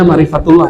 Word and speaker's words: ma'rifatullah: Ma'rifatullah atau ma'rifat Allah. Bacanya ma'rifatullah ya.